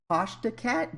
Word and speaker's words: Tashdacat: Today I am with Tashdacat. Did I say that right? Good. No American gets it correctly. It's Tash. It's due Tashdacat? to the way Australians and English pronounce A's.